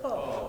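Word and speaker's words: פה: How do you pronounce it? Po.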